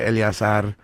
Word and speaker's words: Eleazar: say your name cuz I was saying and then you're like uh anyways my name is oh yeah no no it's elas elas that's my real middle name people